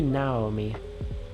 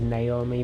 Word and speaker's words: Naomi: It should be Naomi, because she's Japanese, but I keep saying it as Naomi because that's the English way to pronounce it.